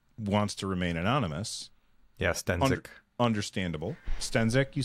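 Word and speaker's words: Stenzek: Yeah, Stenzik.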